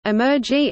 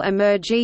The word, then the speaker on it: emergy: EYR-ELRNOTE, the numerator is called Emergy and is spelled with an M. It is an abbreviation of the term embodied energy.